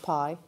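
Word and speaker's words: bi: know it says bai but it's pronounced pie the traditional jade flat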